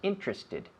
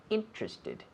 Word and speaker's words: interested: Most people say that in 3 syllables. Interested, interested, instead of interested.